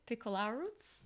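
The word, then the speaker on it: Piccolruaz: spoke about mikhail's surname is it piccola roots you are italian yeah but it's a german italian name he says it like piccolo anyone about to slay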